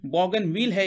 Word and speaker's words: Bougainville: भी कहते हैं, तो यहाँ पर इसका प्रोनाउंसिएशन बॉगनविल है एक तरह से।